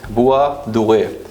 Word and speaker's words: Bois Doré: is Bois Doré, or in French, if I'm pronouncing it right, it's Bois Doré.